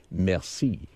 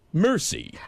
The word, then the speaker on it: merci: at it, you say, "Merci." But when the way Brad pronounces it, it's really embarrassing. He gets it and says and gets the the bill and looks at it and says, "Mercy."